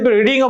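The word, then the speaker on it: read: রেড বাই হিম ঠিক কন্টিনিউয়াসের ক্ষেত্রে দেখো হিল রিডিং বুক সে বই পড়তে থাকবে প্যাসিভ করে কি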